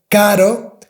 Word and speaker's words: caro: But if that word is in the middle between two vowels like caro, para, pero, and so on, you have to pronounce with a soft R.